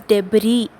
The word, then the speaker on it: debris: So it is pronounced as debris. S is silent there.